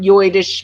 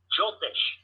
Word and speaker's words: Jyotish: Am I saying it right? Jyotish. How do you say it again? I think I heard you saying Jyotish. Is it with the ja? Joidish? Joidish. J-Y-I-S-H. Okay, I'm pronouncing it wrong.